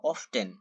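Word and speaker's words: often: হাউ অফটেন? হাউ অফটেন? অথবা এই উচ্চারণটি হাউ অফেনও বলতে পারেন।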